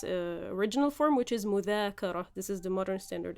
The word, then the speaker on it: مذاكرة: As you guys can see, we transform the dhal sound into z. Egyptians, as always, tend to make everything easier. So we say مذاكرة.